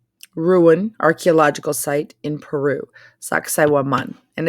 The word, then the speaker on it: Sacsayhuaman: back here and watch the video, this is pronounced Sacsayhuaman. Sacsayhuaman. And it is an ancient Incan ruin, archaeological site in Peru. Sacsayhuaman.